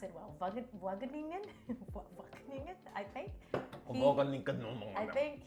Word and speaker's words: Wageningen: I don't think I can pronounce it well. Wageningen?